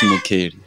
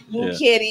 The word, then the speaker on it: Mukheli: And in studio today, we have Mukheli. Aye? Did I say it right? Yeah, Mukheli. Mukheli, yes. I said it right because we always want to get things right.